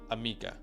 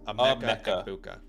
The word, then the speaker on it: Emeka Egbuka: Emeka Egbuka, not Amika. It's Emeka Egbuka.